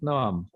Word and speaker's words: Noam: He literally said it's a Hebrew name. You pronounce it Noam.